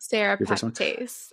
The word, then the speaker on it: Serrapeptase: Serrapeptase.